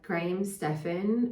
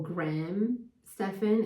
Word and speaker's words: Graham Stephan: And I've shared this before, but Graham Stephan, or Graham Stephan, if you have the US pronunciation, not the Australian pronunciation of the name, he just said something